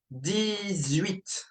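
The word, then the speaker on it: dix-huit: 18. 18. Same as before, all right? You would say 10, 8, right? Don't pronounce the H and pronounce the T in 8.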